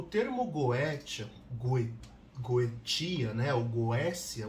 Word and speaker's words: Goetia: O termo Goetia, Goetia, né, ou Goécia, o correto seria falar Goécia, porque a terminação T-I-A no latim fica cia, como se fosse a pronúncia de um C, ou cia, T e C junto.